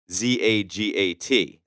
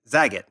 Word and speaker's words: Zagat: We had an email sent in, and it said it rhymes with cat.